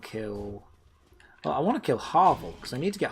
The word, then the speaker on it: Havel: sauce dexterity 222 fantastic the dude is calling Harville Havel Harville I've always pronounced it hobble I've always said Harville is it not Harvick so Black Knight